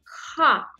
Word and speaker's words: х: Une lettre un peu spéciale, ce son n'existe pas en français, voilà pourquoi c'est un petit peu difficile à prononcer cette lettre, ha. Elle est proche de R, un porte par exemple, mais cette lettre, il faut prononcer plus doux avec le fond de la gorge, ha.